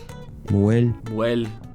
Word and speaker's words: mujer: Muel, Well, wow. The S consonant, That's pretty different. Muel, mujer.